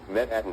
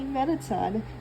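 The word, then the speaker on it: Mettaton: It's supposed to be Metatton, not Metatton.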